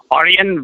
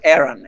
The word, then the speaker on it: Ayran: Ayran? No, it's Aaron. Aaron. Just Aaron? The same way. Aaron, yes.